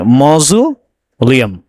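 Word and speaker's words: mausoleum: On world stage this gorgeous, ये एक word है दोस्तों, इसका प्रोनाउंसिएशन देखिए आपसे, मौजूलियम। क्या है, मौजूलियम।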